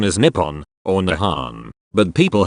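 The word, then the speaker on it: 日本: meaning is the base of the Sun Japanese pronunciation is Nippon on the Han but people had pronounced the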